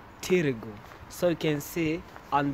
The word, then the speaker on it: Târgu: targo or tergo moresh they write it ta but they pronounce it as tirigo so you can see